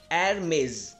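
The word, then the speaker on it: Hermès: तो आप इसको प्रोनाउंस करेंगे Hermes।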